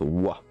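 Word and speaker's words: は: Alors, la particule wa se prononce justement comme ceci, mais qui s'écrit ha et qu'on prononce wa.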